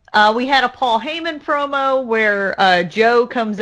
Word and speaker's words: Heyman: the only thing is you pronounce his name wrong you said Paul Heyman it's Paul Heyman true it is Paul